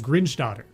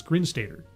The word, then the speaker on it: Grinstater: I knew someone with the last name of Grinstatter. And so when I see your last name, that goes out, but it's Grinstater, yes? Sater. Grinstater. Give me the phonetic pronunciation.